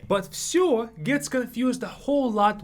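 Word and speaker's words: всё: but it's mostly like show with an F sure it's much easier to pronounce that way sure and it means everything I liked everything so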